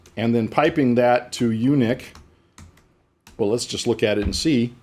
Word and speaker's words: uniq: conjunction with sort called unique and it's spelled you and I Q but not the you eat so you Nick not gotcha so what